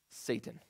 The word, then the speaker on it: Satan: We pronounce it Satan.